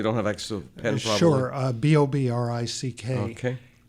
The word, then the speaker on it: Bobrick: hi what's your name my name is Bob Rick okay bobrick is that how it's supposed to be pronounced yes as a matter of fact well